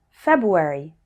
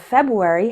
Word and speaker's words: February: by the fact that when speaking fast we often don't pronounce the R surprise forward February listen to how they